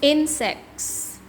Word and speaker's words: insects: Insects. It's first syllable.